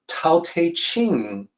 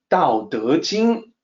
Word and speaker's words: Tao Te Ching: When you hear me speak, you can hear that the sound I make is not Tao Te Ching. It's always Tao Te Ching, which is the original pronunciation.